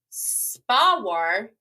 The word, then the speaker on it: SPAWAR: SPAWAR is how they say it.